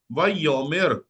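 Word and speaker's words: וַיֹּאמֶר: तो ये हो जाएगा जी वई यो, अलिफ साइलेंट है, और ये है मेर, वाई योमेर, वाई योमेर, वाई योमेर।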